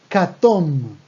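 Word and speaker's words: כתום: siguiente color el naranja catón cartón naranja catón con m al final ojo no catón con n sino con emi importante acá toma catón y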